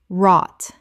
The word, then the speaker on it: wrought: Correct pronunciation. Wrought. The w is silent. The gh is silent. It rhymes with caught and thought.